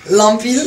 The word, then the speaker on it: Lampi: Et là, je suis là avec monsieur Lampil. C'est Lampil, j'ai bien dit? Lampi.